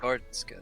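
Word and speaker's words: Garstka: Or is that Goratska? Is that his last name? That's Matt Garska, yeah. Gartska. That's how you say it.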